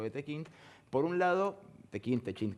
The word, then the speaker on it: Techint: Por un lado, Techint, como quieran pronunciarlo, él le dice Tequint, le decimos Tequint.